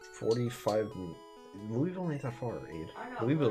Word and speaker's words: Louisville: I know but it's it is spelled Louisville it probably was originally called Louisville but once the evolution of accents and dialect and everything else happens end up being Louisville Louisville is only like